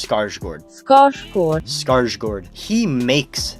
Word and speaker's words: Skarsgård: who's played by Bill scars gored everyone says skarsgård because they're darn Americans but it's pronounced scar Schwartz gosh poor skarsgård he makes this character he